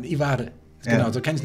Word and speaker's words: Ivar: Auf Norwegisch eigentlich fast identisch. Ivar, also man rollt das R, je nachdem, wo man herkommt. Genau, Ivar.